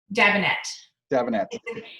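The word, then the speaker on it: Dabinett: Wait, how'd you pronounce the first one? Davenet? Davenet.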